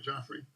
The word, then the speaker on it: Joffrey: doing we're doing it am i pronouncing your first name right joffrey yes you did it wonderfully joffrey okay got